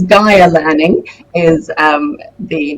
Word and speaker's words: Gaia: ms the founder and ceo at gayer learning welcome to the show hi sage thank you very much for having me you um pronounce my surname perfectly but it's gaia learning is um the name of our company